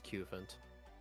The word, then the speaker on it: Cufant: This one says Cufant. So I think it is Cufant.